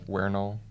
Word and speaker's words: vernal: Equinox in Latin the Vernal the wernel because the V is pronounced as a w Equinox okay um I